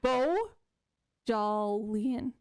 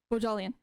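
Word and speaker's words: Bohjalian: flight attendant by chris can you pronounce that last name okay wait let me try bo jollian jolien okay chris bajalian if we're saying that wrong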